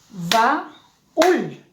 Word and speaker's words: baúl: Cuando yo voy a pronunciar, digo, baúl. Son dos sílabas, por lo tanto, aquí debo separar. Baúl. Porque la vocal cerrada lleva tilde.